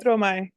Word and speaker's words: Stromae: Stromae.